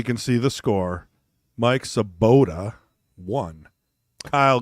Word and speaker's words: Sobotta: names on the stream for sure so it's saboda and Gable like Chris is I should pronounce it Tris Patrick glean Klein no